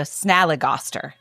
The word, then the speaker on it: Snallygaster: It's sna as in snap, li as in lick, and ga as in gh. So Snallygaster, which is not how I pronounced it because I was saying Snallygaster.